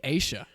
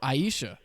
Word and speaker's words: Asia: feeling about this girl I got her name wrong in the right in the last episode um give me Asia oh I was gonna take yeah okay I called her Aisha like three times that's very funny I